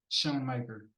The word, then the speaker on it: Schoonmaker: What's Shoemaker? Shoemaker not he's tight end from Michigan. Schoonmaker.